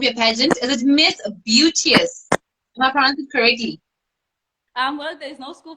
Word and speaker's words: Beauteous: pageant is it Miss beauties um well there's no school for pronunciation but um I think it's pronounced as Beauty as Beauty as um the same is beautiful so pictures beautiful oh